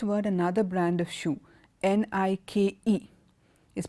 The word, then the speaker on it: Nike: and the last word another brand of shoe n I K E is pronounced Nike Nike okay so I hope you've got an